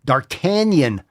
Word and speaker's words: D'Artagnan: Reminds me of Man in the Iron Mask, John Malkovich's terrible pronunciation. D'Artagnan. Remember that movie? D'Artagnan? Tanya? Nah, it's D'Artagnan.